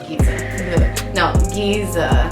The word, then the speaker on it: Giza: And I'm gonna go into this color, Giza.